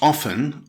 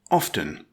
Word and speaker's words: often: Some grammarians insist the T is silent, as in soften. Others pronounce the T, as in after.